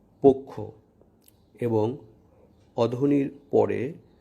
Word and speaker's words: পক্ষ: আদ্য অ বা শব্দের শুরুতে অ এর পর ক্ষীয় অর্থাৎ ক যুক্ত মূর্ধন্য স অথবা জ যুক্ত ইয় থাকলে উক্ত অ সাধারণত সংবৃত বা ও এর মতো উচ্চারিত হয়।